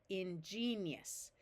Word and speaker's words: ingenious: Note that in this word, it tends to be pronounced more like 3 syllables because this I sometimes, instead of a clear E sound, will have a sound more like a Y of yus.